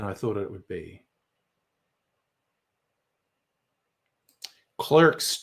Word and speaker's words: Clerks: If it was an Australian or English movie, I would be calling it Clark's 3 because that's the correct way to pronounce it.